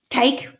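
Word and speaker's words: KAKE: The television station is spelt K-A-K-E, cake, which must be Kansas something, K-E, I don't know.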